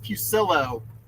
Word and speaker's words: Pucilillo: So for any Oh, Ryan Ryan wants to know how to pronounce it's Pucilillo. like Church Pew Window Sill O.